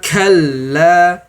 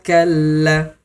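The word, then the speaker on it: كلا: Tumma kalla tumma kalla kalla. Terlalu berlebihan ya. Terlalu berlebihan. Ibarat ngos-ngosan ya. Kalla maka dia santai saja ayah bunda. Contoh pengucapan yang benar. Tumma kalla ka ka. Ada nafas yang ada percikan nafas yang keluar tapi tidak berlebihan.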